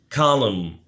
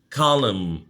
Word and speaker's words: column: مجموعة collection collection عمود column column الN silent column يصمم أو تصميم